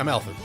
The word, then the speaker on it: Amalthus: Is that how you pronounce his name? Yeah, Amalthus.